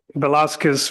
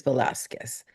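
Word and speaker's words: Velazquez: Sir, is your last name, is it Vasquez or Velasquez? Velasquez, V as in Victor, ELAZ as in Zebra, QUEZ. I always feel that the correct pronunciation of someone's last name is very much a sign of respect. So I wanted to make sure it was on the record that it is Velasquez.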